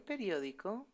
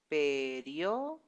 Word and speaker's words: periódico: The stress is in the first O. Periódico. Periódico. And this one is quite long too. Clasificados. So, hay muchos anuncios en el periódico los domingos.